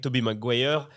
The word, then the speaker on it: Tobey Maguire: C'est EY, ça se prononce E en fait. C'est pas Tobey? Si, c'est ça, mais ça c'est à l'américaine. Bah, par exemple, on dit la marque Obey.